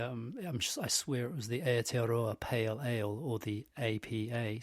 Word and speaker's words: Aotearoa: But not, because it's Aotearoan. I did a bad job of saying it, I know. I tried, though. All the syllables, all the vowels, use them all.